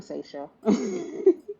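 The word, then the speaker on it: Sasha: I'm Seisha. Oh. Okay. Seisha? Yep. Okay, nice to meet you, Seisha. It's spelled like the Obama child, but it's pronounced differently.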